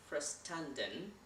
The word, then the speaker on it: verstanden: अब यहाँ पर verstanden में आपको जो अल्फ़ाबेट नज़र आ रहा होगा शुरू में, वो V है, V of English. लेकिन in German इसको हम pronounce करेंगे F, right?